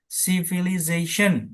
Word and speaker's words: civilization: Kemudian civilization. Nah, zen-nya ini yang dominan.